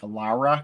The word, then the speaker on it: Lara: thing I know it's the proper pronunciation isn't Laura Croft it's something like Lara laa yeah but I'm